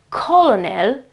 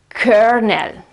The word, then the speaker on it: colonel: C O L O N E L. But the pronunciation is not colonal. It's kernel. It's kernel.